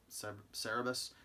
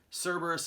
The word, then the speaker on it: Cerberus: how you pronounce it i always thought it was sir cerebus cerebus is the pig cerberus is the creature whatever anyway 6.99 plus